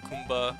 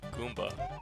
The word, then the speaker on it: Goomba: care for that got little Kumba I me Goomba why don't know why I pronounce it with a K that's just odd all